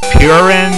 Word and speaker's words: purin: Because yeah, it name is Purin or however the hell you're supposed to pronounce it. I find that quite funny because in French Purin, uh, it's pronounced pur.